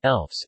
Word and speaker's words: lefse: Lefse Norwegian pronunciation, Elfs, is a traditional soft Norwegian flatbread.